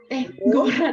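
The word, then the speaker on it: город: Gorat. Ya, Gorat. Gorat. Penekanannya di O yang pertama.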